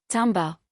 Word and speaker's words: timbre: Mistake three, spelling timbre as timber like the wood. The musical term is t i m b r e from French and it rhymes with amber.